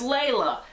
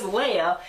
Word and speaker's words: Leia: little robot thing is princess lalla Leia way out yeah I've said her name wrong people told me so Princess Leia it's actually her it's